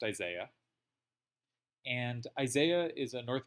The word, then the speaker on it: Isai: is a guy spelled is AI is AI pronounced Isaiah and Isaiah is a North American player who